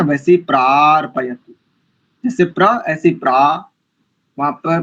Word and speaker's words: प्रार्पयतु: पशून नहीं करेंगे, पशून, पशून, दीर्घ, उकार दीर्घ है एक, और दूसरा प्रार्पयतु, पार नहीं प्रार, जैसे प्रजा, जैसे आपने प्रजा शब्द बोला ना, वैसे प्रार्पयतु, जैसे प्र ऐसे प्रा,